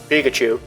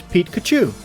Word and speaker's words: Pikachu: It's not Pikachu, it's Pete-Kachu.